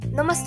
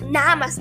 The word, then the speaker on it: namaste: Namaste and welcome to the Our Sunday Project podcast. Yes, yoga videos, that's how you say it. It's not namaste, it's namaste.